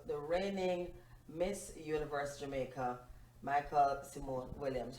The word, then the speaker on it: Miqueal: today well who is michael well the first thing i should say is i know the pronunciation of my name reminds everyone of the boy version of michael and no my parents